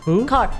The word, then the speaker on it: Kerr: really breaks my heart Deborah Kerr that didn't win and they gave her car that's how they pronounce yeah um she didn't